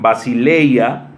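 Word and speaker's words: βασιλεία: Esta palabra reino de Dios, dos palabras griegas que se pronuncian basileia, es la primera, la segunda basileus, y esto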